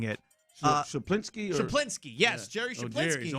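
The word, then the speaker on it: Schuplinski: his name, I always have a tough time pronouncing it. Shaplinsky? Shaplinsky, yes, Jerry Shaplinsky.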